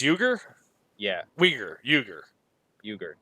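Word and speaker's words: Uygur: I know that lesson is pronounced to you gir it's you gir yeah we're you gir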